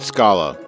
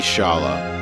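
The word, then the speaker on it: Schala: The way they write it in here, it's got to be Shala. I wouldn't I wouldn't pronounce it scala even though s c maybe s ch c ch is an sk sound but it could also be an sh sound just with an extra letter because because it's because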